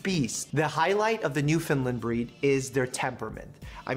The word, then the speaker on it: Newfoundland: is a Newfoundland and I know it sounds like I'm saying New Finland but I'm saying Newfoundland in a way that